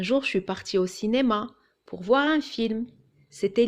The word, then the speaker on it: cinéma: Cinéma. Il y a un i après le c et ça se prononce ce, cinéma.